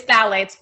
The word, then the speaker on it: phthalates: yeah so tell its phthalates pronounce it with a th ok anyway um and